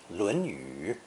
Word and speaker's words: 论语: The second tone pronunciation is basically reserved for the title of the ancient classic, the Confucian Analects, 论语.